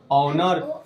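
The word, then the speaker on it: honour: तो ओनर मिलता है ओनर के स्पेलिंग होता है एच ओ एन ओ यू आर ओनर ओनर मीस समान लेकिन एच का कोई उपयोग नहीं है अग बांधना को गड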